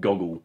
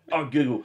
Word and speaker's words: Google: on life tilt is my mum pronounces Google, and I don't know why, she'll pronounce it Goggle. She's like, well, why don't you look it up on Goggle? And I'm like, what the fuck is Goggle? And then, Google. I'm like, you're looking at Who's it. Who's Yahoo? Where's the, where is the second G? There's two O's in there, it's Google.